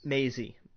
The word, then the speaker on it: Maisie: How do you pronounce her first name? Maisie.